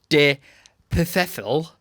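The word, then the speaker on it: de Pfeffel: you ready alexander boris de perfel johnson d e space p f e double f e l professional faithful silent p oh yeah boris johnson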